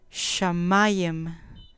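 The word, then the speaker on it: שמים: o completar 80 64 shamayem con acento en la penúltima sílaba sustantivo masculino cielo o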